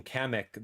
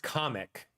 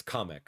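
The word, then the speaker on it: Kamek: So apparently my entire life I've been calling kamic the wrong name. It's pronounced comic uh with like a like a like a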